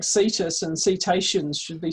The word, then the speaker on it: cetaceans: They're cetaceans with a soft C.